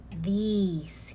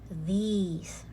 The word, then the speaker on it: these: This is this, okay, short e, and this is long e, these. Okay, this, these. All right, going back, these is the plural form of this.